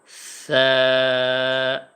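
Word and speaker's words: ث: এ সার উচ্চারণটা হবে জিহ্বার আগা এবং সামনের উপরের 2 দাঁতের আগা, এই জায়গা থেকে সা, সা, সা, নরম করে হালকা করে সা, সা।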